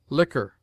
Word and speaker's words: liquor: never followed by you Q is sometimes sounded in words derived from the French like K as conquer liquor risque Checker r R has